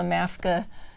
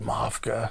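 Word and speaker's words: MAFCA: on them on the maska um am i saying it right no according to the game jay told me to call it mafka mafka okay there we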